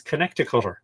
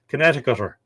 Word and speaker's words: Connecticut: Connecticuter. Yeah. It's funny how things are pronounced, isn't it? When you read it, you go Connecticut, but it's Connecticut.